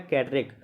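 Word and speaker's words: Cadarache: ये देखिए उच्चारण सही से नहीं कर पा रहे थे। इसका नाम है कैडरेक।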